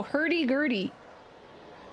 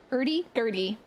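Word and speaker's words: hurdy-gurdy: Hery Gertie. It's not spelled in a way that you would to like trick you. It's spelled very literally. Hery Gertie.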